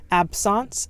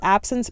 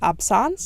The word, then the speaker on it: absence: Absence seizures. I thought it was absence, but doctors would tell me that it's pronounced absence.